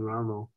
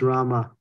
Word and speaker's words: Rama: them chanting Ramo because it's bogus and it's there's no allowance for Ramo it's not allowed it's just it's Rama who is Ramo who who the hell is that you know what is he somebody's Italian Barber or something you know it's Rama thank you thank you yeah